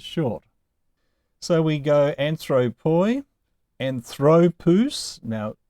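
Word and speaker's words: ἀνθρώπου: But with ἀνθρωπου, the Omicron upsilon diphthong is always long. And so the accent can only go on any of the last two syllables, according to the general rule. So it started on the third to last syllable, and it will stay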